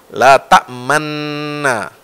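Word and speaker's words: لا تأمنّا: Nah, kemudian ta'manuna, daripada nunnya dibaca dua kali, nuna, ini kemudian diidgham oleh qiraat Asim, ya, mutawatir bersumber dari Rasulullah Sallallahu Alaihi Wasallam membacanya la ta'manna.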